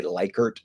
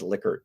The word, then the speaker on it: Likert: um liquor scales and it is liquor it's probably like the most widely mispronounced word in the social sciences people tend to say likert scales uh it's not there are actually like recordings of this guy saying yeah my name is licker from the 1950s right